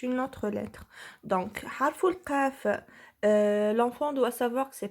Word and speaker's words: قاف: Donc, harful qaf, l'enfant doit savoir que c'est pas harful kaf. Donc, quand il doit prononcer la lettre, il doit appuyer un peu sur la lettre pour trouver comment prononcer qaf et non pas kaf.